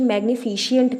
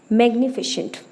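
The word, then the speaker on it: magnificent: मैंने काफ़ी लोगों को देखा है जो इसकी प्रोनाउंसिएशन मैग्निफिशिएंट करते हैं। ये मैग्निफिशिएंट नहीं है, मैग्निफिशेंट, ठीक है।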